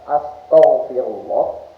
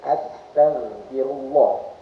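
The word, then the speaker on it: astaghfirullah: Jadi membacanya membacanya itu bukan astagfirullah tapi astagfirullah. Astagfirullah. Ta ta itu ee makhrajnya. Makhrajnya itu ujung lisan ee ujung lisan dengan gigi atas. At ta ta bukan th.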